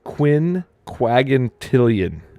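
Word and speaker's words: quinquagintillion: I'm just gonna type this in chat it's Quinn quagentillian is what it's pronounced as Quinn quagmatillian yeah that's a see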